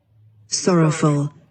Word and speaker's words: sorrowful: देख लेते हैं ये सॉरोफुल, सॉरोफुल देखिए प्रोनाउंसिएशन देख लेते करेक्ट, sorrowful, सॉरोफुल, ठीक है। सॉरोफुल, सॉरोफुल, फल होता है फल, फुल नहीं होता, फू नहीं होता, फल होता है सॉरोफुल, देखिए sorrowful, सॉरोफुल।